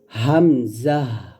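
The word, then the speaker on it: همزة: এটা হবে গলার শুরু থেকে হামজা আর আইনটা হবে গলার মাঝখান থেকে। তাহলে আমার সাথে পড়েন হামজাহ হামজাহ আর আইনটা গলার মাঝখান থেকে চাপ দিয়ে বলেন।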